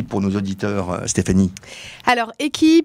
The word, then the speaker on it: Echy: Alors, EQI, pour la petite histoire, ça s'écrit ECHY, et c'est la contraction d'éclairage hybride.